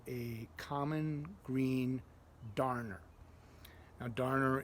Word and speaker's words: darner: Now, darner is spelled Darner, kind of like you would darn socks.